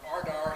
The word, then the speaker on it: RDAR: communications person uh from ardar said uh i have to put uh the name of the uh the group out there in terms of uh ardar that's how pronounced results driven agricultural research